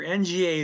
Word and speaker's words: nga: is spelled again just ng and where is happening will be marked by sa okay um see here nga they say sounds like nga in the phrase sing a song sing uh sing sing